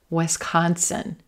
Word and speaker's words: Wisconsin: Wisconsin, Wisconsin. Olive sock, Wisconsin. Yes, good. Consonant. Play with it. Wisconsin.